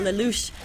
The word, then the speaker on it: Lelouch: So Lelouch, was that how we decided to say his name? Yeah, it's Lelouch. Lelouch right there. It's a French pronunciation.